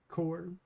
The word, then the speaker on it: corps: I don't think one traditionally pronounces the P when the word is spelled like that. Core. Am I wrong?